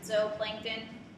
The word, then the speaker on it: zooplankton: So our zooplankton, you could always remember, you know, animals go in a zoo, but we pronounce it zooplankton.